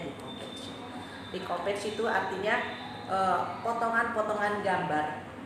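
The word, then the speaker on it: découpage: Misalnya decoupage, bacanya decoupage.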